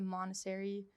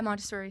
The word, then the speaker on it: Montessori: I think it's more of like a Montessori I don't know if you've heard of that. It's like a childcare. Oh, the Montessori. Yeah, Montessori.